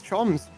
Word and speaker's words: Chums: Uh, the AGM of the the franchise pronouncing the the the team name wrong. It's it's Chums.